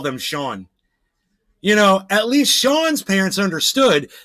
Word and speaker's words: Sean: We're going to name him the actual pronunciation of his name, not seen.